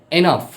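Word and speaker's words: enough: আজকে আমরা জানবো যেমন জিএস জাতীয় কিছু শব্দ আছে যেগুলোর উচ্চারণ ফ এর মতো হয় আবার জিএস দ্বারা এরকম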